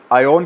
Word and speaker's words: Aion: आयन कह लें या बहुत सारे इसकी प्रोनाउंसिएशन एयन भी करते हैं। तो जो आपको ठीक लगे।